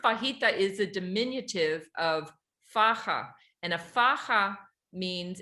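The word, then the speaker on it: faja: is a dimin of faha and a faha means and that's F Aja a you pronounce the J like an h f and a faha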